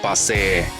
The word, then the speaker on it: Pakse: In Lao, Pakse is pronounced 'Pakse'.